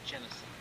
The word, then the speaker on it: Genesee: Genesee. Genesee County. Genesee. How do you pronounce the name of the county? Genesee. Right, Genesee. It's hard to pronounce.